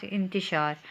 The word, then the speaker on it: انتشار: تو بھی صحیح ہے۔ لفظ ہے ہمارے پاس انتشار۔ اگلا لفظ ہے درس، دال پہ زبر، رے